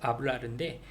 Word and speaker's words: hablar: 그냥 동사를 보면은 이 주어가 누구겠구나라는 것을 알기 때문에 예를 들어 주신 게 아블라르의 H가 묵음이 있어요. 그래서 HABLAR 그래서 아블라르인데 R, AR 걔를 어미라고 보고 그 앞쪽에 있는 아부를 어간이라고 하면 되겠죠.